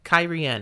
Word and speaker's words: Cairhien: Let's make up a new pronunciation. Cairhien.